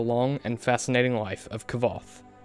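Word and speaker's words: Kvothe: and fascinating life of kavoth sometimes pronounced koth kavoth or quoth it doesn't matter kavoth is a deeply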